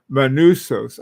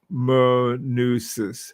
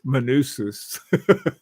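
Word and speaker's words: Manousis: Hey Eddie, Manusos, I pronounce it Manusis. Manusis.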